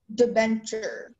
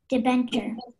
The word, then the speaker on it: debenture: Your word is debenture. Can you please repeat the word? Debenture. Debenture. Can I have all the information, please? Sure. The word can be pronounced debenture or debenture. It's a noun.